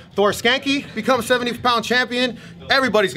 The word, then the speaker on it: Skancke: __ ] awesome man your last name is pronounced skank skanky Thor skanky so I mean people